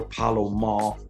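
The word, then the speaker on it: Pola-Mao: I want to, and I apologize if I'm saying it wrong, but it is Isaiah Palomal is how I believe it's pronounced.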